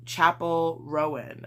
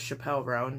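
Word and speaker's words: Chappell Roan: Same with Chapel Rowan, I want to say. I've been saying her name as Chappelle Rowan for like months, and that's not how you say it, so oops.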